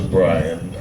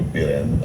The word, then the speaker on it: Brian: want to have to pronounce my name is Brian people sometimes you know the cricket circles will call me billion or something like that